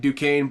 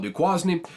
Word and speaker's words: Duquesne: Virginia beat new quasney it's I know it's pronounced Duke Duquesne but calling it du quasny's funnier to me so I'm just going to call it du quasney uh they beat him 56-17 though nothing to